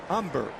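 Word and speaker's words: Humber: hitter used to have Phil umber silent h umber strike one of the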